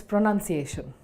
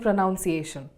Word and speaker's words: pronunciation: It's pronunciation. Or is it pronunciation? We get confused sometimes and end up saying pronunciation. This is wrong. We say the word pronunciation as it is spelled.